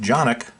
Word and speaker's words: CANiK: another tabletop review today we'll look at the canik tp9 fsx 9 millimeter match pistol i'm told that it's pronounced januk the website states that the tp9 fsx is